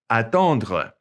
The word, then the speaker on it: attendre: Okay, notice it ends with that RE and it's pronounced kind of glottally. Attendre. It's kind of back in the back of your mouth, okay?